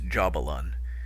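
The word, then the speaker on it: Jahbulon: It's jabbalon. And it's uh three syllables.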